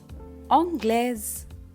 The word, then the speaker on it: anglais: which is pronounced so a i plus a pronounced consonant would give a sound of just like the english words bed set so let's say them angles anglais which means english but